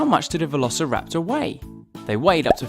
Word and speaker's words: Velociraptor: Let's learn all about Velociraptor! How do you say that again? Ve-lo-ci-rap-tor.